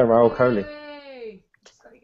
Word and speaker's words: Rahul Kohli: this guy right here uh people welcome to royal college if i said it right yeah yeah that's right yeah raul coley thank you for having me um so what